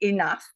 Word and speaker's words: enough: In English instead, you say enough, E-N-O-U-G-H, and Y is G-H pronounced.